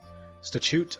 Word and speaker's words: statute: I'm pretty sure you're supposed to pronounce it as if it's St stat but statute statute okay now I now